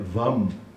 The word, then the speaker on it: vam: o a vem primeiro que o u não é é o mas é a primeiro e depois u e se você trocar user o u primeiro fica o Am Não é isso que pela pronúncia sânscrita é vam o que é o